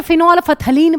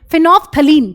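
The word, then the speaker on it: phenolphthalein: फिनोफ्थलीन में जो एल होता है वो साइलेंट होता है। कई बच्चे फिनोलफथलीन पता नहीं क्या बोलते हैं। फिनोफ्थलीन। ठीक है? ये वाला एल जो है शुरू वाला ये साइलेंट है और मिथाइल ऑरेंज।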